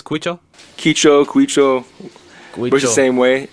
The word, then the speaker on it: Quicho: Quicho. Works the Quicho. same way. The way you pronounce it is a key, like a key, and Ki- then cho. Quicho.